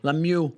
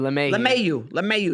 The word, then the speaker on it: LeMahieu: Lemieux. Is that how you say it? LeMahieu.